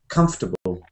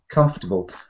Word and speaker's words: comfortable: comfortable yes you hear three syllables comfortable because the there's a buried super stress super unstressed syllable between the m and the F it's a little uh comfortable comfortable so it's really um the kind of way that you hear this you hear all kinds of mistakes with this word because the first word um table is not there and but when you